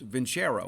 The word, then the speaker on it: Vincero: It's Vincero. That's how you pronounce it, Vincero.